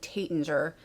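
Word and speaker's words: Taittinger: um i used to i was calling it tatinger because some people call it that but tate and xi i believe is how you say it is taitanji something like that um is what i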